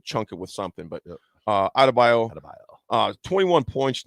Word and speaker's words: Adebayo: How do you pronounce Bam's last name? Adebayo? Bam Adebayo.